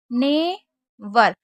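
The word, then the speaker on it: neighbour: इसी तरीके से लास्ट वाला देख लेते हैं, ने वर, क्योंकि जी एच जो है हमारा साइलेंट है, तो ने उसके बाद ये पढ़िए वर। तो नेवर यानी कि पड़ोसी, जैसे आप जानती हैं, right, site, fight, Fred, naughty.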